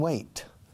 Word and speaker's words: weight: Weight, siempre con una T al final, y el sonido fonético, la pronunciación es igual que el verbo esperar. To wait.